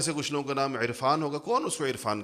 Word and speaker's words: عرفان: کچھ لوگوں کا نام عرفان ہوگا، کون اس کو عرفان کہتا ہے؟ عرفان کہتے ہیں، حمزہ سے کہتے ہیں۔ تو ہم عین کا تلفظ کرتے نہیں ہیں، حالانکہ لکھتے ہیں،